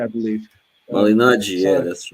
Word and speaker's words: Malignaggi: My seat, I got in the middle row, and I was watching Paulie Ma, Malignaggi yeah.